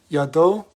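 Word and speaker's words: ידו: at the top for the o sound I pronounce this as you do commonly it's yado and this letter y at the end means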